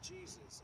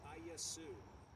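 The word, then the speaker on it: Iesus: If you're saying Jesus, it's not Jesus, it's Iesu, I-E-S-U-S, as in this first English Bible, not the first, but this English Bible, I-E-S-U-S, I-A-S-U, the last S is a silent letter.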